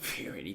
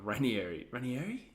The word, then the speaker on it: Ranieri: Like Fiorini, not Fiorini, God, Ranieri, Claudio Ranieri. That's just how you say his name.